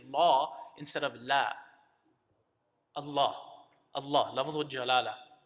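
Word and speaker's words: لا: say no in Arabic you don't say law you say la correct um and all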